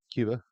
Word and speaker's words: Cuba: Is it Cuba or Kuba? Cuba.